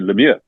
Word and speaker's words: Lemieux: Mario Lemieux is actually Lemieux in French.